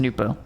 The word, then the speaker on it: Nupo: Nupo pronounced Nupo. Pog.